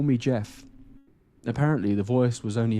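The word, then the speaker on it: Gef: it's a soft G you know it's a soft G not long after this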